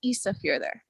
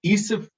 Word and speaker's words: Ísafjörður: It's a to pronounce because the D sounding letter, which is the Icelandic letter eth, it's like a D with a little line through it. That's pronounced there, like a TH sound.